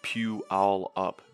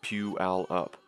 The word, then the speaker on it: Puyallup: puealop puyallup is pronounced pew all up dude the way you say it is so grating puyallup washington is pronounced pew all up but i don't blame